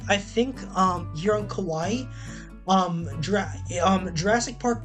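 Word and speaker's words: Kauai: And then this is Kawaii. Yes, it is pronounced the same the same way as the um Japanese word for cute as Kawaii.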